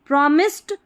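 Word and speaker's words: promised: ओ प्रॉमिस्ड प्रो मिस्ड प्रॉमिस्ड टू प्रॉमिस्ड जो टी है ये जो डी है ना इसका ट साउंड सुनाई देगा प्रॉमिस्ड ऐसे सही रहेगा प्रॉमिस्ड ड नहीं प्रॉमिस्ड ट साउंड आएगा प्रॉमिस्ड टू कन सी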